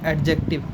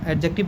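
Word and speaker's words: adjective: जिस भी वर्ड में आईसी सफिक्स हो जाए वो क्या बनता है, एडजेक्टिव, नॉट एडजेक्टिव। एडजेक्टिव नहीं बोलते, एडजेक्टिव बोलते हैं, डी का साउंड साइलेंट होता है।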